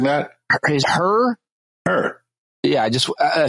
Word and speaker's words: Hur: his last name and there are afraid of pronouncing that her her yeah I just I said her and